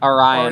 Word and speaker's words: Orion: How do you pronounce it? Orion in the Dark. Orion, okay, thank you so much.